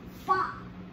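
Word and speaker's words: ब: Yeah, and this, this is pronounced ba, with a little lip smack in there.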